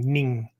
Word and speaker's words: nin: Okay, so when we use nin, right, we're using ning, N-I-N-G sound, which is the original Chinese for this concept.